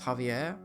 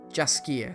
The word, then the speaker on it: Jaskier: And there's also Dandelion, also known as Javier. Oh, sorry, not Javier. Jaskier, sorry.